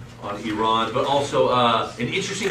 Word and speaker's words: Iran: called The Flock of Seagulls in the 1980s IR Ran So Far Away but we don't it's actually the correct pronunciation should be IR Iran yes this was made very clear to me